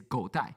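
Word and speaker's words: 狗带: So go dai they we write it write it out in Chinese is god dai. So the pronunciation of god dai means dog belt.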